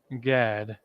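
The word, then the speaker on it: גד: connect it Gad is Gad which is the North American Indians and God is simply a God and a da okay God and then da God getting through it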